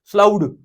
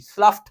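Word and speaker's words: slough: ऑफ the elementary kanal spelling है एस एल ओ यूजी एच ईडी है बनते है स्पेलिंग बनते हैं स्लाउट है ना लेकिन असल में ये इसके जी एच को क्या साउंड निकालनी है एफ की स्लफ स्लफ ऑफ सेल्स ऑफ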